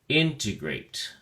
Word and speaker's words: integrate: at your flesh card integrate has three syllables and the enthesis or stress is on the first syllable in so we say integrate integrate it is used only